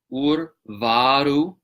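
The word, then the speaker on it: उर्वारुकमिव: we get urvārukamiva, and this is a word that's commonly mispronounced by Westerners trying to do this mantra. Ur, you are, right? Urvārukamiva. Urvārukamiva is the correct pronunciation. We get a lot of people dropping that first R.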